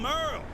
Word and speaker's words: Merle: I'm Merle, spelled like Hurl.